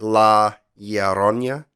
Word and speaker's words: La Llorona: La Llorona.